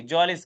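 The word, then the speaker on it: Mjölis: यही जलिस game इसको बेटा एम इसमें साइलेंट हो जाएगा। जलिस game.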